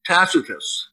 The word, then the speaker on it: Tacitus: depicts her as corrupt i love reading tacitus or takatis as i pronounce i love listening to it at night tacatus and cassius dio or